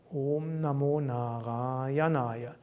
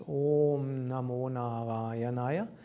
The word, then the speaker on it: Om Namo Narayanaya: O is long, it's Om Namo Narayanaya. And then the first A is long, Na, then long, Ra. Then the next is short, Ya.